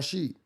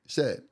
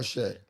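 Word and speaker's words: Shead: Jamal Sheet from um is it Shed or Sheet? Shed. Uncle Shed. Yeah, it's Jamal Shed.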